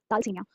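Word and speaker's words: Thalassemia: so next we have थाल सनिया इसको भी शायद मैंने स्टार्टिंग में गलत प्रोनाउंस किया था तो इटस लसिया इसमें शायद एच की साउंड नहीं आती है थाल सनिया इट्स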